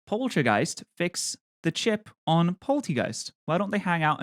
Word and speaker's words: Poltchageist: Poltchageist. Am I saying it right? Poltchageist? It's like chai, right?